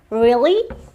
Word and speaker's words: really: Ya, kalau kita bilang itu R, ternyata dalam bahasa Inggris itu bukan R atau bukan R, tapi R. Jadi dibacanya really, really, gitu.